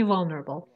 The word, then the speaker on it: vulnerable: disease made me vulnerable the stresses on the first syllable made me vulnerable so you used passive